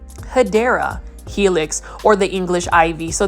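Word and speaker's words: Hedera helix: Hedra helix or the correct way to say it is hideera helix or the English ivy.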